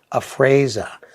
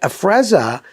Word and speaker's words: Afrezza: that's a problem now he can't even pronounce afrezza he thinks it's like a french a fraser maybe that's just the way he picked it up in high school his language but afrezza he acts like you